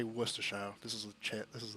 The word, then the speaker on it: Worcestershire: No, it's more properly pronounced Worcestershire.